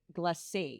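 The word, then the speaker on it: Glace: about to say glaz we said glaze for a long time too and then we realized it's the French word for ice and it's actually pronounced GL glass we wish we had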